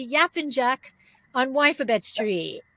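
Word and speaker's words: Yapıncak: be talking about if i say it correctly yap and jack on wifabet street right did i say it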